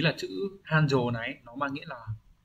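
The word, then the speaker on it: 繁盛: Hán tự chúng ta có đây là chữ phồn và chữ thịnh, như vậy là sẽ đọc là Hanjo.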